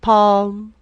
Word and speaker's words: palm: wessel silent t and palm silent l next now write the